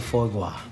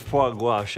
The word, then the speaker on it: foie gras: Did you taste the foie gras? Oh my God, it's pronounced foie gras, and it's unbelievable.